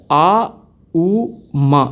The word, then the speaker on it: ஓம்: இஃப் யூ see proper pronounce பண்ணுறதுங்கிறது பார்த்தீங்கன்னா, இட் இஸ் நாட் ஓம், இட் இஸ் ஆ உ மா. இட் இஸ் அ மிக்ஸ் ஆஃப் 3 words, ஆ உ அண்ட் மா.